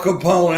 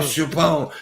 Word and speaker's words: Capone: saying Chapone instead of Capone. I have flubs all the time. I got, like, what is it? Apraxia. No, John, that is unforgivable. Calling Al Capone, Al Chapone.